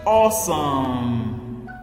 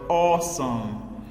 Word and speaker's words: awesome: at some other examples awesome this the word awesome okay A W making the a sound then there's an e which is silent in this word then s o m